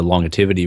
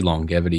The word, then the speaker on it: longevity: even it's probably wrong it's actually longevity yeah I think that's the way to pronounce but um I've always